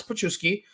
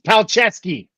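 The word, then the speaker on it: Palczewski: George Payton in our depth because with Alex pusi you see we have a good right tackle we're talking about pronouncing names right it's paleski aleski aleski thank you Tyler Bay running back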